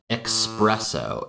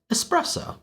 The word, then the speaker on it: espresso: As you can hear in those examples, many of the native speakers are pronouncing it expresso, expresso. And this is also one that I used to do because I learned this pronunciation expresso from my father. Only later, as an adult, did I learn that it was espresso.